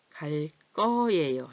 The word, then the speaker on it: 갈 거예요: 갈 거예요. 얘는 얘랑 만나서 자음끼리 만나서 어떻게 소리가 된 소리로 변했죠?